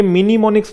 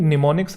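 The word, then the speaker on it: mnemonics: ये मिनीमोनिक्स नहीं है। कुछ बच्चे इसे मिनीमोनिक्स बोलते हैं। ये निमोनिक्स है। यहां से इसके शुरू होता है। एम जो है ये साइलेंट होता है।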